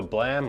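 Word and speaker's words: Blame!: Yeah, a manga piece from the manga Blam or Blame, whoever wants it. It's spelled Blame, but it's pronounced Blame, I think.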